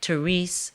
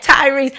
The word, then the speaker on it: Tyrese: Listen, we're going to take a short break and we'll be back with one of my favorite people, Therese. Did I say it right? Tyrese.